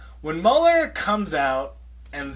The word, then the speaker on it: Mueller: So when Mueller, it's actually Mueller, I think I've been saying his name wrong. When Mueller comes out and says it, then what?